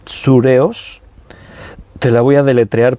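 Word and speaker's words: θυρεός: aquí en el griego es una palabra que se pronuncia así sure os te la voy a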